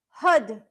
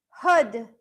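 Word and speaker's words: Har: Hud. Hud. So, we say it like it is h a r, but we say it like h u d.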